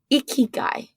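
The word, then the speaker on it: ikigai: it wrong and you're going to correct me iy guy yeah is that how you say it yep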